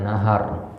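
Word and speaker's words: نهر: Nahrun ini juga dibacanya nahar, ya, naharun, ya, nahar dengan fathil ha, ya, huma lugatan. Ini dua cara baca.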